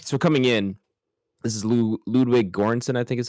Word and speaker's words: Ludwig Göransson: But like, so coming in, this is Ludwig Göransson, I think is how you pronounce it.